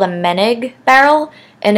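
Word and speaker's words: Moennig: The only things that are different that I'll sort of go over is that I play with a Meneg barrel on my B-flat clarinet because my B-flat clarinet runs super sharp.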